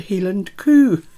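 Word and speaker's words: Hielan coo: it up we've got the helen coo that is i promise you that is how they say it healing coup uh or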